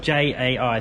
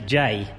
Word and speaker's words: Jay: And while we're apologising, good old Lawn Mog, his name is spelled J-A-I, so I've been calling him Jai, but his actual name is Jay. So if anyone needs to talks to him, call him Jay. Don't call him Jai, because apparently he doesn't like that.